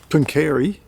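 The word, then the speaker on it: Pooncarie: And this here, Punkeri, that's how you pronounce it, was an absolute thriving um riverboat port.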